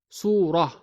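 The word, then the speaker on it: سورة: in while in speech when we stop at ta marbouta we pronounce it as ha example we write it as su suratun but say it as surah trading is but when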